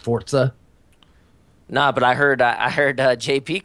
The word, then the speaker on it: Forza: I was playing Forza Horizon 2.